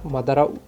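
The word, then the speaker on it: Madara: एंड उसके बाद में यहाँ पर मादारा उचिया की एंट्री होती है।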